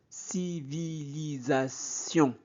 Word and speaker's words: civilisation: passé, on découvre des civilisation. S entre deux voyelles se prononce Z.